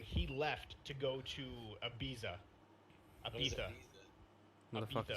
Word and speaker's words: Ibiza: not mistaken three months that's why it's pronounced I got betta because they don't say Z's yeah it's like in Spain so he went there